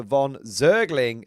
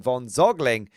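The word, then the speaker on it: von Zögling: In this case, it's closer to von Zergling than von Zogling Don't ignore that load-bearing umlaut, Ed.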